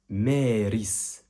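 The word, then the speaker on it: مارس: Le mois de mars, en arabe, il est très similaire à la prononciation du mot en français en quelque sorte. Et en arabe, on dit Méris.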